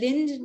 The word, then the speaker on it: Linde: Lind, not Linde? Yeah, it's Lind. It's not a Maharashtrian. It's a Scandinavian Lind, Lind.